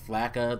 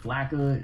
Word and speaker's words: flakka: Anyway, I wanted to talk about you lead off the subject because you found the article about something called FLACA that I've never heard of in my life.